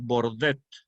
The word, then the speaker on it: Bordet: Por ejemplo, yo creo que les mencioné el descubrimiento del francés Bordet, con B, Bordet, que fue el que descubrió